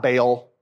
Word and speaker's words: Baal: It's not Baal. It's Baal. You have to pronounce both vowels.